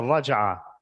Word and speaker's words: raj'ah: And this act of taking her back is called in Arabic the raj'ah. And you could spell that in English as R-A-J-A-H.